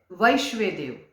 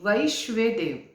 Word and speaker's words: वैश्वेदेव: मैं फिर से बताऊंगी, वैश्वेदेव। कुछ लोग इसका गलत प्रोनाउंस करते हैं और कहते हैं कि विश्वदेव, तो विश्वदेव प्रोनाउंस नहीं है इसका। इसका उच्चारण है, इसका प्रोनाउंस है वैश्वेदेव, मतलब विश्व के सभी देवता उत्तराषाढ़ा नक्षत्र के देव हैं।